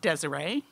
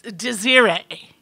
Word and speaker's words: Desiree: Now, her name was spelled like I thought Desiree. She was always quick to point out that, no, it's Desiree.